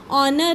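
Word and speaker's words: honour: जैसे ऑनर है, ऑनर में एच साइलेंट हो जाता है, एच आर में HOUR और होता है घंटा, घंटे में भी एच साइलेंट हो जाता है, इसलिए इसकी आवाज़ थोड़ी सी इस तरह की निकलती है।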